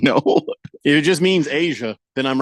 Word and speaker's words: Aja: that that keeps coming up for that is Asia Wilson okay um who's that'd be that'd be